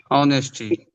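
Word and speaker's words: honesty: ऑनेस्टी। ऑनेस्टी। H silent है।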